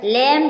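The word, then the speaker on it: lamb: आया है कोम कोम मींस गंगा इसमें भी साइलेंट है लम लम मीस मेमना डम डम मींस गूंगा डेट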